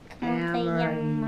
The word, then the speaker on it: amarillo: Oh, So when we say como te llamas, what's a llama? so it's a y sound. It's Yeah. a Y sound. So how would you pronounce that? Amarillo.